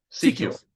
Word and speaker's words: Secules: How do you pronounce Scott's last name? Secules.